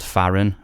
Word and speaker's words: FAHRAN: I'm currently the singer of a band called FAHRAN, which is spelled FAHRAN.